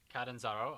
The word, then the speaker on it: Catanzaro: Catanzaro.